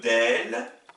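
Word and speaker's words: دال: Deuxième paire de lettres, vous avez la lettre del, le D, équivalent du D français, qui s'oppose avec la lettre dad.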